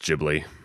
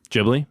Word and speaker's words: Ghibli: It should be pronounced Ghibli. Ghibli. Yeah, because I've always said Giblly.